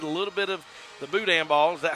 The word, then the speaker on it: boudin: I've gotten to eat a little bit of the boudin ball. Is that how you say it? Yes, sir, boudin.